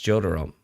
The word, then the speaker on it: Jotaro: Jotaro, how do you pronounce Jotaro? It's Jotaro.